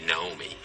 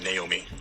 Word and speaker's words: Naomi: From Japanese, a famous one is probably Naomi. Right. In America, most people would probably say Naomi. Naomi? Right, Naomi. Okay, so Naomi and Naomi, most Japanese or people in Kojima Productions probably just pronounce it Naomi, which is a very Japanese way of saying.